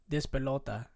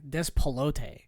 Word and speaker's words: Despelote: Despelota. Oh, why did I say it like a white guy? Despelote.